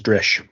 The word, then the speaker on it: Drish: by by by dral the proper pronunciation of that is drish drish it is so